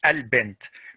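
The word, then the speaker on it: البنت: And it's always pronounced as a. Always pronounced as a. So al-bint, I say al-bint. But if I have a word before al-bint, for example, let me see here. Yeah, for example, if I have shakara, okay, so if I have two words like that, I don't say shakara al-bint because it's hamzat wasl, so it's not pronounced.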